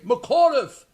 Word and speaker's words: McAuliffe: McAuliffe.